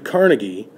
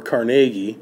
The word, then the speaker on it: Carnegie: - about how Andrew Carnegie or Carnegie depending on who you're talking to there's a couple different ways you can say his last name I think he actually used to pronounce it Carnegie but other people around him called him Carnegie either way how Andrew